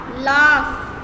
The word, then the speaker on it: laugh: इसमें आपने ध्यान रखना है कि F नहीं आता, इसमें सिर्फ बोलने में साउंड में F आता है बट लिखने में GH आता है।